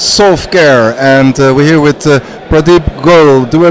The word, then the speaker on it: Pradeep Goel: me personally was Solve.Care, and we're here with Pradeep Goel. Do I pronounce it correctly?